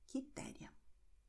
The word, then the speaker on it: Quitéria: Q-E, Q-I. And in these combinations, Q-E, Q-I, pay attention, the U is silent. It's going to be written but not pronounced. So you're going to have K, K, K.